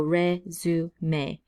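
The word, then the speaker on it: résumé: So when you see those marks on the top of the E, then we actually should pronounce it like E. So resume, resume. But if you see this word without the marks above the E's, then you can see that it just spells the word resume.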